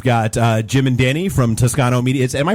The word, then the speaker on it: Toscano: very uh we've got Jim and Danny from Tuscano media am I pronouncing that right is it Tuscano that is correct media thanks for having us